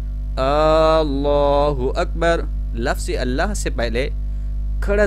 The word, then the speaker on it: اللہ اکبر: اللہ اکبر، یعنی اس میں لفظ اللہ کی لام پر صرف ایک کھڑا زبر ہے، اللہ اکبر اس طرح پڑھنا ہے۔ لیکن بعض لوگ اللہ اکبر، کچھ اللہ اکبر اور